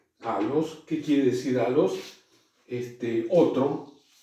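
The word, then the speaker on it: ἄλλος: Dos L's, es decir, dos lambda, el equivalente a nuestra L, seguidas, no se pronuncia como una L nuestra, sino que se pronuncia como dos L's separadas. Por ejemplo, la palabra, ven, ahí hay dos lambdas unidas, halos, halos, ¿qué quiere decir halos?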